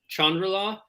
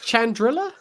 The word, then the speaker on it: Chandrila: to pronounce this like i always called it chandrala or no and they now i'm confused um is it chandrila yeah it's no it's more like chandrala oh it's like oh